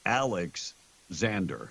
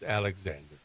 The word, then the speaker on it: Alexander: Happy birthday to Alexander. Have yourself a happy, wonderful day. Was that Alexander or Alex Xander? No, it's Alexander. The way they spelled it.